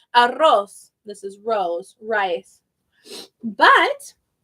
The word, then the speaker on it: arroz: If the R is in the beginning of the word or it's a double R, it's rosa, arroz.